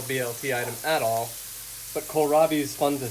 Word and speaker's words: kohlrabi: it that much, and that's spelled Kohlrabi, as in, how's Kohl spelled at the store? Is that Kohl? There you go. So it's like you gotta go to Kohl's with a rabbi. Kohlrabi.